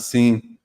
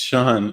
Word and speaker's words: Sean: going scene he's like no my name's not seen it's Sean I'm like no it's seen he's like no it's Sean I was like this is s-e-a-n that's how you pronounce that but whatever are you